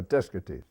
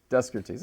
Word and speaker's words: Descartes: We were talking in the last episode about Descartes, and you said one of your students called him what? Oh, Descartes. Descartes. Well, this is the emphasis on a different syllable.